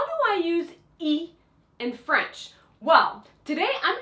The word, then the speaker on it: y: does it even mean that y that's actually pronounced e well you're gonna find